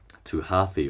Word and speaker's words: Hathi: He knows that he has this one power, and everyone says to Hathi or Hati, as the name is pronounced, this great elephant, the master of the jungle, who knows all wisdom, who knows all lore.